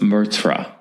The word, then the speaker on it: meurtre: And meurtre also has 2 syllables. It's meurtre.